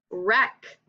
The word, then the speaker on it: wreck: Wreck.